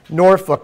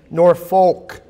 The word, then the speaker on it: Norfolk: were in uh norfol now I pronounced that word wrong I'm used to Nori Virginia and I was claried when I was in there it's Norfolk so I got to make sure I got that right we decided yesterday that